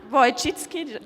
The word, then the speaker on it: Wojcicki: i have here to my side um and boy chitsky do i pronounce it right correct and linda avey the